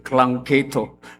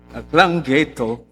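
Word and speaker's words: Llangeitho: maliit na komunidad sa Langketo, Sabi, ang bigkas daw nito Klangketo. Pero double L kasi, wala naman letter C. So, Klangketo, kung saan ang pangangaral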